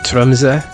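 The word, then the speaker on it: Tromsø: Yeah, I once went I went to a place called Traumza or Tumza if you want to pronounce it properly.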